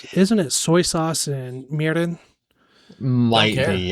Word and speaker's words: mirin: you don't pronounce it real hard. No, it's like 'Cause a it's not combination of an mirin. R, L, D. Yeah, so it's like mirin.